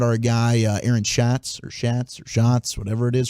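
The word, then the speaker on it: Schatz: guy Aaron shots or shats or shots whatever it is from ESPN spelled like shats but pronounced shots he said what Rogers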